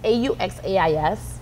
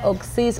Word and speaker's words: Auxais: Yeah, a lot of people want to say Auxais, Auxais, but okay. My dad made it up, and he was very determined that our last name, people, is pronounced Auxais.